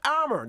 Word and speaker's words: Amer: Mo Amer.